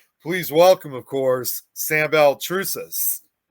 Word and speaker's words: Baltrusis: Please welcome, of course, Sam Belrus.